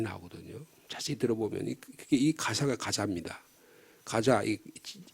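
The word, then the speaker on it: Gaza: 자세히 들어보면이 가사가 가사입니다 가자 영어 발음은 우리말은 가사라고 되어 있죠 영어로는 지금도 발리신 사람들이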